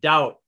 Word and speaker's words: doubt: numb num silent b doubt d o u silent b d d e silent